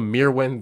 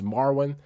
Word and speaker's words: Merwin: bro oh man I I was calling a mere wind the whole time it's it's marwin I'm over here mispronouncing